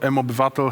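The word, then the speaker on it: mObywatel: So you were able to see a short clip about what M-Citizen or M-Obywatel, how it's said in Polish, is.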